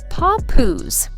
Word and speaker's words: Papoose: And the name behind the chaos, three syllables, paw poos.